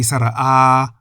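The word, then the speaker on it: สระอา: The long vowels are spoken in the middle tone, while the short vowels are spoken in the low tone. So we say sara-a, but say sara-a.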